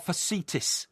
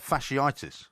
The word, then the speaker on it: fasciitis: one is the plantar facetus is it and this is one of the most common causes and it's a heel pain you sure it's not fasciitis it is fasciitis right facitis you said